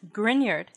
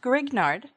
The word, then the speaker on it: Grignard: The Grignard reagent, pronounced Grignard, not Grignard, after Victor Grignard, who won a Nobel Prize